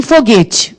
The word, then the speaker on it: foguete: Em foguete, vai trema? Já estou perguntando direto já. Foguete tem trema? Não, porque esse U não tem som, não é foguete, né?